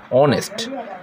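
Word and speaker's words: honest: হচ্ছে অ এর মত অনেস্ট হনেস্ট হচ্ছে না উচ্চারণ হচ্ছে অনেস্ট অনেস্ট যেহেতু হচ্ছে তাহলে এটা এ আই মানে পাওলের মত উচ্চারণ হচ্ছে বিধয় তাহলে তারপরে পরে কি বসবে?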